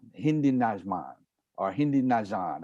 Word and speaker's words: Najman: I say Hindi Najan, Hindi Najman, or Hindi Najan. I know something is silent. It's just pronounced Nyman. So Hindi Nyman is perfect.